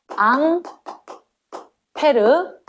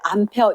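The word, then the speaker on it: Ampère: 앙 페르. 법칙. 무슨 법칙? 페르 법칙. 앙페르 적는데 비슷한 발음이 프랑스 할아버지거든. 어, 앙페르. 어,이 히 할아버지가 어, 남들이 얘기할 때 암페어 요렇게 불렀다는 거지.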